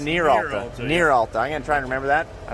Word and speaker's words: Neeralta: I kept saying Neeralta, but that's It's Neeralta.